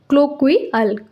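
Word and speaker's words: colloquial: इसका प्रोनाउंसिएशन है क्लोक्वियल, क्लोक्वल।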